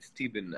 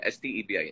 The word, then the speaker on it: Stebin: why would anybody like why people call me stephen i think it's it's very simple st ebi instead it's very simple